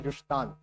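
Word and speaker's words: Zustand: Zustan. Now, it's German. is pronounced as Yushan. Will you pronounce it as Yustan from now on?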